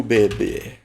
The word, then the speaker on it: bebê: Fala comigo, bebê. Ó. Bebê. B. B. Ó. Bebê. Onde ficou o prolongamento na chama? No E, que ficou mais forte, tá?